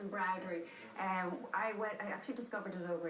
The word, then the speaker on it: Embrowdery: Pronouncing it correctly? No, that's right, Claire. It's Embrowdery.